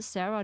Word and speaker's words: Sarah: So Sarah is pronounced different in German. It's called Sara. That's how we call it because they they are also wants to call me back then.